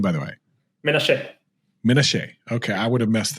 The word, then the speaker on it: Menashe: you say your last name by the way Minnesota okay I would have messed that up completely